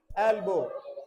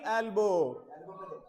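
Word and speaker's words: elbow: have pain in माय एल्बो तो बेटा चलो इसे प्रोनाउंस करते हैं ई एल बी O double एल्बो एल ब मत बोल देना इसे य रोक देना एल्बो ओके आर्म पिट एल्बो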